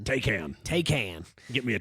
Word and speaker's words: Taycan: the holidays is the pricing of the Porsche Tyco on icon Tyco on there's actually a video on youtube that teaches you how to say how much that spelled it's spelled ta Y CA n take am take hands get me a taking one them